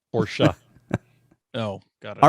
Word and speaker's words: Porsche: that supposed to be pronounced? Porsche.